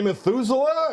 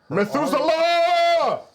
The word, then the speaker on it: Methuselah: And I gently and then I run run say Methusela. And I'm already running back as I ask. You have to really put some stake on the last syllable otherwise it won't work.